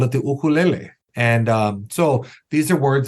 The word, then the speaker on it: ukulele: An ukulele, mispronounced ukulele all the time, but an ukulele actually is a little guitar brought by our family from Portugal.